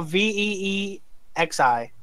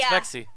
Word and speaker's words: Vexi: isn't that vexi or vexi I don't know v e XI yeah that's vexi that's that's vexi that's how I've been pronounce that's one of Matt's followers that's one